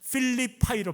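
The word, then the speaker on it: Philippi: 이 사람 이름이 영어식 발음은 필립이거든요. 필립. 그래서 그 도시 이름을 뭘로 바꿨냐면 필리파이로 바꿔요.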